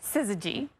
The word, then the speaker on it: syzygy: Perfectly aligned in one of my favorite words, syzygy. I should spell that right.